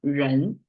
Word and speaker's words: 人: Read as 人, okay.